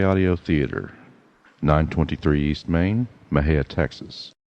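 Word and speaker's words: Mexia: For correspondence, send to M&J Audio Theater, 923 East Main, Mejia, Texas. Mejia is spelled M-E-X-I-A.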